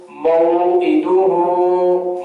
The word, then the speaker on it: موعدہ: اوپر الٹا پیش ہے، ہا الٹا پیش ہو، موعدو ہو، موعدو ہو۔ آپ اس کو اگر کوئی پڑھتا ہے موعدو ہو، یعنی عین کوئی نیچے زیر ہے، اس کو